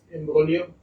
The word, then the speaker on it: imbroglio: G is silent there, so it's imbroglio.